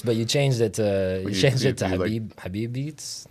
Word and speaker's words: Habibeats: That's a play on Habibi and beats. So what's the right way to say put the words together? Habibeats. Yeah. Like you're saying the word Habibi. Yeah. But it's beats on that. Beats is the last vowel.